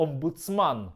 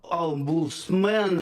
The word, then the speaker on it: омбудсман: російською коли говорить, то не може вимовити слово "омбудсман". Олбусмен. Що робити, коли до вас прийшов цей, олбусмен.